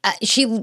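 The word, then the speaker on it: sidhe: It's not pronounced seed. It's pronounced she, which that's Gaelic for you, I guess.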